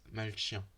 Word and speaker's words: malchien: a h so you wrote it but you pronounce it melchia it's uh you can't find them in a